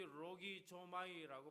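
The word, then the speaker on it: λογίζομαι: 여기 로기 조마이라고 발음하는이 단어는요.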